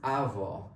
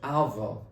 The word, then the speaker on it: our: It's not R, it's our. The right pronunciation of this word is our.